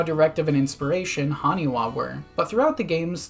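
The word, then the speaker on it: 埴輪: While in hiragana, the character for ha is sometimes pronounced as wa, so putting them together with this, you get Haniwa, the terracotta figures that the gyroids are based on.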